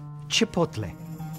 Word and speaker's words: chipotle: It's pronounced chipotle. Chipotle. No. Chipotle. You try. Chipotle. Watch my lips, people. Chipotle.